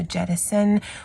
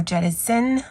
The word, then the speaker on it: jettison: And so you can either say it with a S sound or a Z sound. So jettison or jettison, I guess, because one had a Z and one didn't.